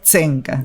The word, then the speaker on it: Tzenka: Claro, porque ahí porque vos me decís Senca, pero mi nombre no es Senca. Mi nombre es Zenca. Zenca.